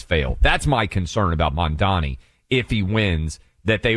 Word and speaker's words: Mamdani: Like I can Mandani.